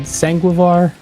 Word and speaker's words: Sanguivore: think the new album is called sangar I pronouncing that right I looked that up earlier yes that's right sangar yeah yeah where did that title come from